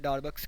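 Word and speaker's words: Darboux: lower डार बक्स सम भी इसको कहते हैं डार बक्स के स्पेलिंग देख ले आप डी ए आर बी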